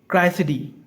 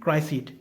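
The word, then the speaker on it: Criseyde: Troilus and क्राइसिडी, ठीक है, इसका प्रोनाउंसिएशन ट्रोइलस एंड क्राइसिडी, ठीक है, क्राइसईड की कहते हैं, क्राइसिडी कहते हैं, मैं यहाँ पर क्राइसईड कहता हूँ, ठीक है, क्राइसईड, ट्रोइलस एंड क्राइसईड, ओके, ठीक है।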